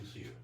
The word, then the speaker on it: Lucier: Lucier. That's my friend. Oh, Yeah. Lucier. Did I say it right? Yeah, you were close. Oh, It's Lucier.